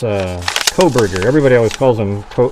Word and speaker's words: Kohberger: Yeah, it's it's it's uh Coberger. Everybody always calls him Co Colberger or Coberger or whatever the hell it is.